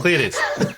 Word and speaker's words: Caelestes: Damn it, that's another pronunciation request of Caelestes. Oh, and you still said it wrong. Caelestes.